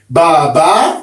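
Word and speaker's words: Bàbá: Baba means do mi.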